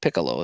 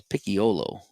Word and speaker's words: Picciolo: It's not Piccolo. It's Picciolo. Picciolo.